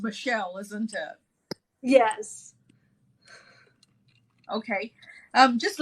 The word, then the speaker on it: Michel: Is that how you pronounce it? It Michael? is. It is. Right. It got Okay. anglicized once upon a time. Right. Okay. Because normally it's Michelle, isn't it?